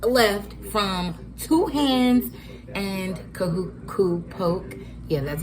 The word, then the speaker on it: Kahuku: So, we just left from two hands and kahuku poke.